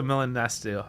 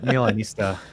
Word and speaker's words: Milanista: And Matteo, he is a Milanesto. Milanesti? No, Milanesto? How do you no, say it? Milanista. Milanista.